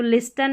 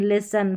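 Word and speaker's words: listen: एस टी एन एस टी एन एस टीए तो लिसन नहीं लिसन फास्टन नहीं फ़सन कास्टल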